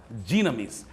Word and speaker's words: dunamis: E deram o nome de dinamite baseado nessa palavra, dinamis, que escreve-se dunamis, mas pronuncia-se no grego dinamis.